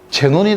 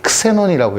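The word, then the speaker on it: Xenon: 건데 원래 제논이 근데 이것도 제논이 읽으면 사실은 안 되죠 크세논이라고 읽어야 되는 건데 근데 이제 제논이 읽기로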